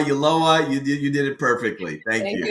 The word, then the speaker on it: Ulloa: Sometimes people pronounce it aloha, Ulloa.